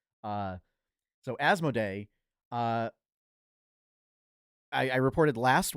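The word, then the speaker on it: Asmodee: company as asmo day I actually I had to look up how to pronounce it because it turns out I've been pronouncing it wrong my entire life uh so asmo day uh I I reported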